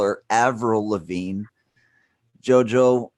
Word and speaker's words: Avril Lavigne: were disagreeing on her name I call her Avril Lavigne Joe Joe how do you say in Canada you be quiet she is Canadian first of all and five tenets Avril Lavigne Avril Lavigne we're calling her Averell no I won't all right fine April from